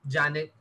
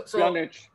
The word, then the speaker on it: Pjanic: let go Janet. I don't know how to pronounce Janic, or you know. So Pjanic. yes, Pjanic.